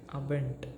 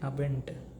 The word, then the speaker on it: Abend: Okay, ending with letters D gives the pronunciation as ta, t, ta.